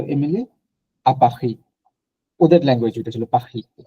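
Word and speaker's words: Paris: important হচ্ছে মানে স আপনি প্যারিসটা কিভাবে উচ্চারণ করলেন পাখি পাখি পাখি পাখি পাখি আচ্ছা তাহলে ওরা কি পাখি বলে প্যারিসকে ফরাসিরা আচ্ছা ওরা তো বর্ধকে বলতে বক্ত বলে না আচ্ছা আচ্ছা ওকে আপনার হচ্ছে পাখি বলে আপনি অনেক সময় যে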